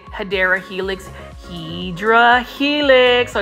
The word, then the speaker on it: Hedera helix: Like for me, I love me some Hydra Helix. And for those that are new to my channel, I call the English ivy, which is the correct way to say it, Hedera Helix.